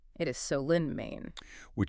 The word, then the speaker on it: Solon: For you listening, if you ever visit or just as we discuss it today, the town is pronounced Solen, right? not Solen, it is Solen, Maine, which is exactly the kind of